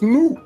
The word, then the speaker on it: nu: If it is in English language, N-U is nu. But nu, nene, nu, that's the actual pronunciation in our language.